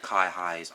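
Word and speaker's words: Kiha: are Japanese diesel rail cars and they're called Kai highs so Kai high is spelled k-i-h-a so this is their equivalent of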